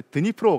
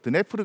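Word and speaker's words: Дніпро: 것입니다 이강의 이름이 말에 드니프로 방입니다 예전에는 그 러시아어 식 발음으로 드네프르 강 이라고 했었는데 지금은 우크라이나어 르 어 존중한다는 의미에서 드니프로 강 이라고 하죠 어쨌든 간에 우크라이나는 이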